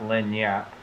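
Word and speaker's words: lagniappe: It is actually pronounced Lanyap. Lanyap or Lanyap. Lanyap or something. Lanyap. There you go.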